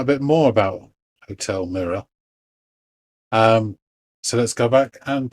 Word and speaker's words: Mira: You forgot to mention that it's Mira. Um, I thought I pronounced it Mira, and I'm not from like New York or Boston, so I hit my R's. I would have said mirror.